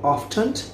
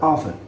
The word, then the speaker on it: often: Some people pronounce the T in often by many others do not. For example, often or often.